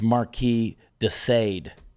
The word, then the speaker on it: Marquis de Sade: It's Marquis de Sade.